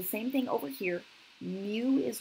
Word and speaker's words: mu: This guy is mu, M-U, pronounced as mu.